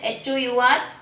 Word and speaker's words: hour: HOUR, hour. These words are also started with the consonant, but we pronounce it vowel sound.